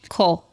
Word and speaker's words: Kol: Cole. Cole. We were close. Yeah, Cole. Spelled Kol. Pronunciation. Cole. Cole. Sounds like pole.